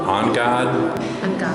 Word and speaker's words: Angad: Well, I've asked a couple of people, and they said, "On-God", almost like you're saying, "En garde", when you're fencing.